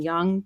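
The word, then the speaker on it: Jung: Um because like shadow work is was you know created by Carl I always mispronounced his name. Young Carl Young or Young who is like a big I was like a psychologist.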